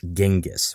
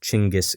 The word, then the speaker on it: Genghis: often hear it pronounced genis with a hard G but in Mongolia it's pronounced with a CH sound like chingis Khan however you say it